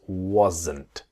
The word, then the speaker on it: wasn't: So was not becomes wasn't. So the S is like a Z, wasn't. And then wasn't becomes wasn't. I wasn't. She wasn't. It's the N sound. The T is silent.